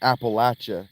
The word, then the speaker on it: Appalachia: You're pronounced Appalachia, like throwing an apple at you.